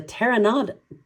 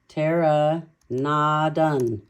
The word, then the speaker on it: pteranodon: He recognized it as a pteranodon.